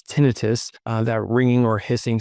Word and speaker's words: tinnitus: Also tinnitus, which most doctors like me pronounce tinnitus, that ringing or hissing sound in the ears.